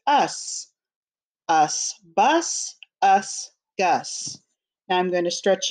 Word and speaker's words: Gus: Gus takes the train. Gus, bus, Gus. They rhyme.